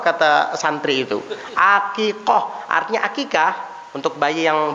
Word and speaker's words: akikah: Jadi kata bapak ini, oh, ini doa akikah bukan akekeh. Bukan, fathah bukan kasroh, kata santri itu. Akikah artinya akikah untuk bayi yang baru lahir.